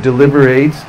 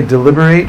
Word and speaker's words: deliberate: to deliberate the word deliberate actually you can say deliberate or deliberate try it it's spelled the same way in order to be